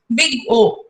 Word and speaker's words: Big O: Big O. OH means you have to pronounce it also as big O. Don't say it as O.